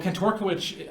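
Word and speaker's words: Kantorowicz: Yeah, well, Kantorkiewicz, I think is how you say it, he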